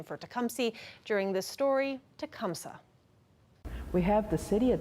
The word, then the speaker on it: Tecumseh: and you'll notice that sims recognizes the original pronunciation for tecumseh during this story tecumseh we have the city of tecumseh and we